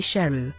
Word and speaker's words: Sheroo: Saroo later learned that he had been mispronouncing his own name, which was actually Sheroo, meaning lion. Production.